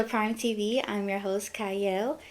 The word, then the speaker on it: Qiayel: TV I'm your host cyle it starts with a q but it's pronounced cyle and today I have